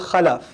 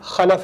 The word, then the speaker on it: khalaf: When you leave behind good children, good generations, they're called khalaf. When you leave behind disappointing generations, they're called khalf. Khalf is bad, khalaf is good.